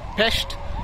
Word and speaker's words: Pest: so other side is pesht as they say even though it is p-e-s-t it is pronounced as pesht and this side is